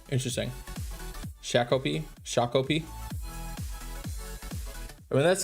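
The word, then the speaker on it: Shakopee: Shikopi. Leave it to the only one that's from Worcester to know how to say it. Shakopi. Interesting. Shakopi.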